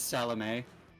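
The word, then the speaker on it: Salomé: So the uh the little the little tick mark above the E means that the E is pronounced. So the name is Salame.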